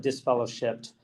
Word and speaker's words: disfellowshipped: I think we added an extra syllable there. They just call it disfellowshipped.